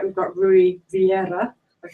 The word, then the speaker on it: Rui Vieira: And then to Emma's right, we've got Rui Vieira. I pronounced that right?